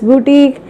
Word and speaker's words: boutique: Somebody say it as boutique, somebody say it as boutique. It is called as boutique.